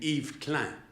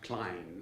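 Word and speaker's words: Yves Klein: and jewish but so that's why he pronounced his name eve clan and not klein like we will uh read it eve clan and if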